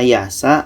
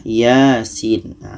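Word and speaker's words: يس: kita jarang yang salah kalau ada yang baca yassa itu salah karena harus dibaca satu-satu mengikut ejaan huruf hijaiyah ia ini bacanya adalah Yasin Oke jadi bukan biasa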